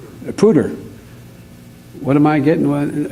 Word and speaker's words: Poudre: And as for the third winner, it's pronounced Purdell, right? Pooter. What am I getting? There's nothing wrong with me. You can call me. It's okay. I often get called. The Poudre Valley Health System is amazing.